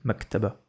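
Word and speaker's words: مكتبة: Allez, on écrit Maktaba. Maktaba. Maktaba. Mac. Mac. Ta. Makta. Maktab. Maktaba. comme ça. Maktaba. Maktaba, une bibliothèque. Maktaba. Maktaba. Maktaba. Et elle, pour l'instant, on la prononce pas.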